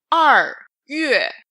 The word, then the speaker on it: 2月: 2月. Don't read 月 separating the vowel. In Chinese, each character is just one syllable.